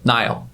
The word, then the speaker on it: Niall: challenge to say it like my name I think is quite simple Nile right but the amount